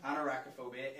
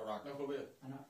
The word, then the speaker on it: arachnophobia: Anarachophobia indicates a fear of what?